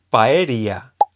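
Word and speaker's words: パエリア: Con diptongo sería con la Y, que se escribe paeria, o sea, tres sílabas en japonés.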